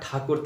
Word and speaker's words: ठाकुर: साम्राज्य स्थापित था और ब्रिटिश लोग इनको ठाकुर के बजाय टैगोर कहा करते थे। ठाकुर का प्रोनाउंसिएशन सही से नहीं कर पाने की वजह से जो बाद में टैगोर ही प्रचलित हो गए।